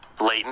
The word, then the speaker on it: Leighton: I even joked about that, saying, well, Leighton, I even said Leighton rhymes with Satan, dum, dum, dum, type of thing.